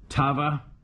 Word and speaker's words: Tava: is an unusual name first name pronounced like the old lava soap okay and second name like ride an hour all right hope this helps okay here we go Tava or hour